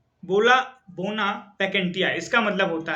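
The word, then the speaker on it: bona vacantia: में बन जाएंगे फिर आपका आता है 13 बोना वेकेंटिया बोला बोना वेकेंटिया इसका मतलब होता है बोना वेकेंटिया स्पेलिंग है बी ओ एन ए वी सी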